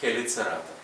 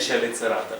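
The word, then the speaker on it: Chelicerata: здається дуплікат маю так комбінація с вимовляється як ха Це Ви добре знаєте хероптера хордата хеліцерата хіроптера хордата хеліцерата Не чайроптера не чордата і не челіцерата будь ласка ть англійці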